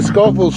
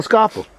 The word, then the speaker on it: Schoffel: We'll get you the Michael Schoffel. Yeah. Not Schoffel, Schoffel. Schoffel. There's many different ways to pronounce it.